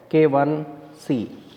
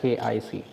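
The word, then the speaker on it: KIc: as roman value and it may look like k i c but it is k 1 c and it should never be pronounced as as k i c so this symbol resembles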